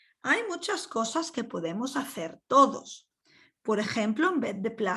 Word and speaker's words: hacer: Hacer, the H once again is not pronounced, ejemplos with a H, and so on.